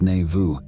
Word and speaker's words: navu: all that there is navu pronounced n Vu is the point of